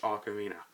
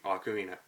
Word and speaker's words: ocarina: well in the dark and yes it is pronounced Ocarina I didn't know that how it's pronounce it incorrectly for years but no it's actually Ocarina check the dictionaries people and that's why I